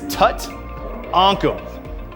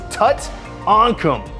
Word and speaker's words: Tutankham: So it's Tutankhamun. It's not Tutankhamun, which is the actual pharaoh from Egypt. I didn't do this, Stern did this. It's Tutankhamun.